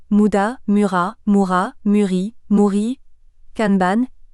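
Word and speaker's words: kanban: Mura Moura Murri MRI canban qui devrait se prononcer canban si on voulait respecter la langue japonaise mais tout le monde parle de canban vous n'êtes pas obligé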